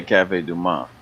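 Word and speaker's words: Café du Monde: Yeah, you don't pronounce the D. Usually Cafe Du Monde. Now you can say Du Monde and all that stuff, but if you're from here, you just say Cafe Du Monde.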